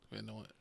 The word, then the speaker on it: Van Nuys: Van Nuys.